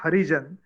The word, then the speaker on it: Harijan: They used to say Harijan, but they used to pronounce Ah. Arjun. They used to pronounce Arjun, and we heard Arjun. And many workers who are permanent workers, their surname is written as Arjun. It should have been Harijan, but the pronouncement of word Harijan is such that we hear Arjun.